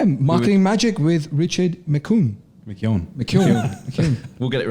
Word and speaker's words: McKeon: McKeon. Yeah, McKeon. Is it McKeon? Is that how you pronounce it?